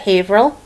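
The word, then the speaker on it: Haverhill: all right here's another one all right we pronounce that havil havil so if you ever come up to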